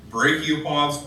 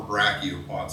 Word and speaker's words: brachiopods: Here's a random advertisement for the state fossil of Kentucky, brachiopods or brachiopods. I've heard it pronounced both ways.